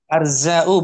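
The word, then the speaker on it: أرزاء: Bacanya arza'u bukan azra'u.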